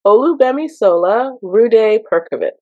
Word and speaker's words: Olugbemisola Rhuday-Perkovich: It's Olugbemisola Rhuday-Perkovich.